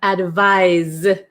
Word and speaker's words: advise: and then number eight we have advise advise okay so this is like more of a z sound oh okay Erica is